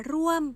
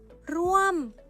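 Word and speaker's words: ร่วม: được quy định đọc bằng thanh thô, không đọc là ร ่ ว ม mà phải đọc là ร ่ ว ม Tôi làm việc ở Bangkok.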